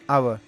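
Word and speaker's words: hour: घंटा यानि कि वन आवर इसको पॉवर नहीं बोलेंगे इसको आवर बोलेंगे ऐड साइलेंट है एडमिन बाद आवर बोला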